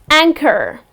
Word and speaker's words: anchor: Again the H goes silent and then another example that I have for you, wherein the H is in the middle of the word is, Anchor.